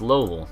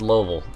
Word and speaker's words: Louisville: not not that time um Louisville it's it's Lowell that's how they that's how it's pronounced there it really is and and that's just someone you gotta accept if you want to move there it's lovel um it's it's kind of yeah I mean